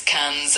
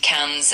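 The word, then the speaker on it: quinze: 15 is K's and it's spelled Q U I N Z E.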